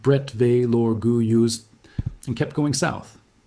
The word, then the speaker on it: Bretteville-l'Orgueilleuse: They drove through Bretteville-l'Orgueilleuse, pronounced Bretteville-l'Orgueilleuse, and kept going south.